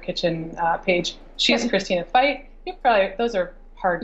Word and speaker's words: Feucht: pronounce your last name it's pronounced fight in English or F there's two